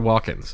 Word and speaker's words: Walken: Christopher Walken's actually. Walken. Remember that's how you pronounce yes.